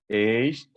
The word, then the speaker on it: aged: The following ed words used as adjectives are pronounced with id. Aged, oh no, aged, blessed, crooked, naked, wicked, wretched. Excellent.